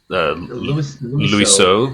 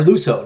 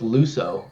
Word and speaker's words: Luso: Louis So, right? Yeah, or Luso. No, it's Luso. That's how you pronounce it.